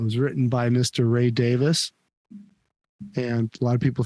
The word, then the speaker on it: Davies: but uh it was written by Mr Ray Davis and a lot of people think his name is Davies but it's actually pronounced Ray Davis from The Kinks and it's l-o-l-a Lola that